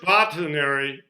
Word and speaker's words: Botanary: It says search botanary to learn the meaning. It should be Botanary. It's like it comes from botany and dictionary.